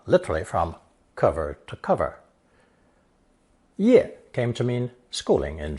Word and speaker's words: 业: It's pronounced fourth tone, ye, ye.